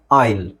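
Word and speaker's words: aisle: ಇಲ್ ನೋಡಿ ಐಲೆಟ್ ಐಲೆಟ್ ಇದು ಎಸ್ ಸೈಲೆಂಟ್ ಎ ಐ ಎಲ್ಇಲ್ ಅಲ್ಲ ಆಯಿಲ್ ಆಯಿಲ್ ಓಕೆ ಇಲ್ಲಿದೆ ನೋಡಿ ಆಯಿಲ್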